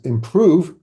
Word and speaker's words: Impruve: Next up is Improve. Whoa, another AI assistant, but it's spelled improve with a U, IMPRUVE, just to make it more difficult to find it.